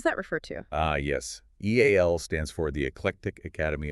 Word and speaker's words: EAL: EAL stands for the Eclectic Academy of Learning. And you pronounce it just like the letters E A L.